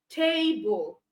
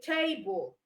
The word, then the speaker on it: table: So you say table, all right? It is longer because you pronounce as table. The bull is shorter. So that means the tay carries the stress. There's emphasis on the tay.